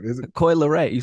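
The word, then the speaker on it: Coi Leray: Is it Coily Ray?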